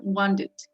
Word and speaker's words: wanted: Wanted and needed. ¿Ok? Algunas personas pronuncian wanted. Casi no la pronuncian la T. Wanted. ¿Ok? Pero sí se pronuncia la ed en este caso.